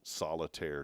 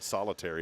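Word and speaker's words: solitaire: It's n it I'll say it the right way. It's national solitire day. Now somebody said solitary and I started thinking of prison.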